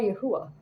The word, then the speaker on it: Yahuwah: you I bow down to the most high yahuwah I bow down to the yahuwah to the